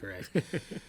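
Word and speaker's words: Shokaract: Shokarakt. Maybe Shock- Shocker. oh, Shockaract. Shockaract. Sure, Yeah, sure, nice. it's Shockaract. So this rare piece went for $620.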